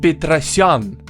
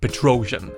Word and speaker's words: Petrosyan: Armen Petrosyan, not Petrosian, as everyone is saying.